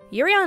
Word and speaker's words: Yurio: For the sake of this review, we're just going to call Yuri Plisetsky Yurio, because it rhymes with Cheerio.